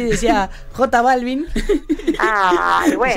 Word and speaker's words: J Balvin: No, él tenía que pronunciar, ¿viste, profe, conoces a J Balvin? Que es J Balvin, bueno, la J se pronuncia en inglés J. Entonces le estaba explicando eso a Juan y decía J Balvin.